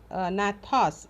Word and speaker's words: gnathos: In fact, G is silent, gnatho, the word gnathos is a Greek term which is nothing but jaw.